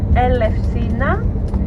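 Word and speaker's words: Ελευσίνα: the industrial town of Eleusis, modern day Greek Elefsina. You will see the name written on the road signs that we will meet in a minute or two. We spell it Elefsina, Elefsina.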